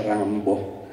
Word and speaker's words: Rimbaud: fa professor sappiamo tutto comunque se pronuncia rambo questi sono i titoli